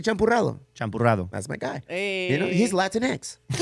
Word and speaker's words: champurrado: Say champurrado.